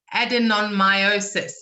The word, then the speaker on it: adenomyosis: be a medical doctor adenomyosis is that right yes yes okay they're just asking if